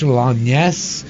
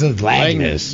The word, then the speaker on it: Langness: I want to say it like French Langness, but I know it's Langness.